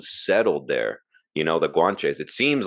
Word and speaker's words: Guanche: kind of the people Guauche Guauche people I don't know if I'm pronouncing it correctly. Yeah, the Guanche. That's it. Yeah.